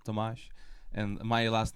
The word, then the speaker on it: Tomáš: I'm this guys correctly and nicely said, Tomáš. And my last name for absolutely insane pronunciation, is my last name, which is called like Hornet.